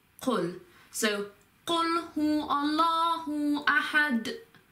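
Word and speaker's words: قُلْ: Then it's not just kul, it's qul.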